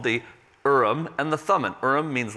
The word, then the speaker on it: Urim: have heard of the Ihram some people say Urim but it's pronounced Ihram and the Thummim the urn and the Thummim